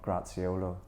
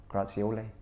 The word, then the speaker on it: Grazioli: goal scorer up front graziolo grazioli he killed me for getting his name wrong uh grazioli was scoring